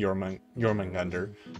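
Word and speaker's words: Jörmungandr: it I notu yeah pretty sure you pronounced the J as a y in it yeah instead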